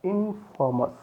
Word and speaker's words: infamous: It become the infamous, infamous, famous, infamous.